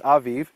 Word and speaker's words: Aviv: it a b but in Hebrew it's Aviv keep the month of the Aviv and do the Passover